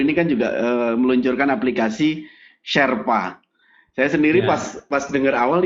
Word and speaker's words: Sherpa: Sherpa ini sebenarnya dibacanya Sherpa begitu aja tulisan ini.